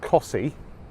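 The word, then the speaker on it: Costessey: T e SS e Y which obviously is pronounced kasi and I'm here at this lighthouse and beach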